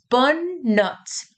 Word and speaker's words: notes: So it has an S at the end, but pay attention that we do not pronounce this S.